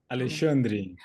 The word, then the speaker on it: Alexandre: Alexandre.